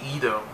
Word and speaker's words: Ido: same like I said father was idle at first but was actually Edom that's how it's pronounced but yet sits by Sookie IDO he also met dr.